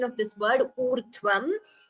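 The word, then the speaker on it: ऊर्ध्वम्: It should be u, not vu. There is a difference between vu and u. U is, this is a swara, urdhvam. When you say vu, that would be a gunitaksharam. That is this va, this and u. So that would be a gunitaksharam. So there should be a difference when you pronounce u and vu.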